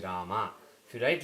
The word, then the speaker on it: Rama: The thing is, when you write Hindi, the A at the end of a word basically is not pronounced. For example, if you write Rama, you pronounce this as Ram, but that is only in Hindi because of the Arabic influence. In Sanskrit, if you write like this, it is Rama.